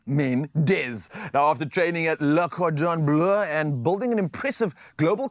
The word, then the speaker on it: Le Cordon Bleu: Let's talk about this journey from Am I pronouncing it correct? Le Cordon Bleu.